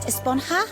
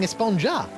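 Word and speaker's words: Esponja: Actually, it's pronounced Esponha with an H sound at the end. Really? But we've all been saying Espongja.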